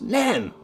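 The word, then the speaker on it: Nene: veins God damn it do you mean the river n no I don't mean the river n it doesn't become the river n until get to andle in Northampton it's the river nen it's pronounced nen uh they'll probably shut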